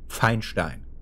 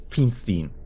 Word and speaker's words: Feinstein: That name, by the way, you pronounce it Feinstein. That's German. And not Feinstein, or whatever Americans pronounce that like. Like that's the EI in a lot of Jewish names is always German, like mostly always German,